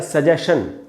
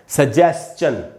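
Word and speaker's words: suggestion: इसको पढ़ते हैं हम अपने यहाँ सजेशन, जिसका मीनिंग हम समझते हैं सुझाव। सजेशन, सजेशन एकदम गलत उच्चारण है दोस्तों। इसका उच्चारण होगा सजेस्चन, सजेस्चन, क्वेश्चन, सजेस्चन, इस प्रकार से पढ़ेंगे।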